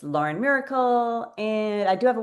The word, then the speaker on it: Myracle: and um so Lauren Miracle I want to spell miracle for you guys because it's the miracle It's spelled M Y R A C L E which you could probably find.